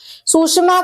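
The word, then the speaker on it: Tsushima: फिर आता है आपका सुषमा करंट, ठीक है। अब सुषमा में क्या है कि टी साइलेंट रहता है, ये आपका वार्म करंट है, ठीक है।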